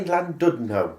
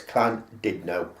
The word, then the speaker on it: Llandudno: Keep wanting to say Llandudno because that's how it's spelled. Double L, but it's Llandudno.